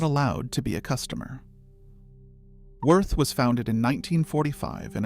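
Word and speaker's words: Würth: The company name is Wurth, pronounced Voort. It has been operating in America for over 50 years. And it has decided that you, the individual American tradesman, are not allowed to be a customer. Wurth was founded in 1945 in a small German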